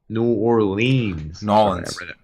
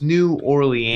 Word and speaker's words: New Orleans: Nolans. Sorry, no, Nolans. New Orleans.